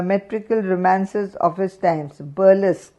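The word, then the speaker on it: burlesque: romances of his times burlesk b e bu r l e s q u e burlesk shazza employed three principal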